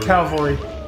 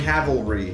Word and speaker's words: cavalry: Calvary. How do you say it? Calvary. Cavalry.